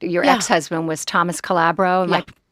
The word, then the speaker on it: Calabro: ex-husband was Thomas Calabro. Am Yeah. I pronouncing that right?